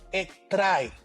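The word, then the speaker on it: ἔχθρα: Bien, la raíz etimológica de la palabra enemistad es una palabra griega que se pronuncia algo como ektrai.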